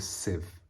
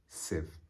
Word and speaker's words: sieve: anyway that's what we call a sieve the pronunciation is sieve it looks like it's sieve but it's a sieve sieve which he intended to pop upon the top